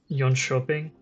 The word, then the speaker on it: Jönköping: The Jönköping is how you say that.